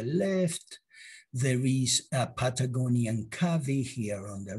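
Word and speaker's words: cavy: there is a patagonian cavi here on the right cavis are rodents well i have heard some people calling them caves pronunciation please excuse me if i am not clear i say cavi and these patagonian cubbies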